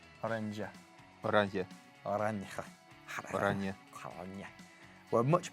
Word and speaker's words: Oranje: However, the Oranje, is that how I pronounce it? No. Oranje.